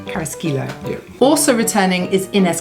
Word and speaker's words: Carrasquillo: Carrasquillo.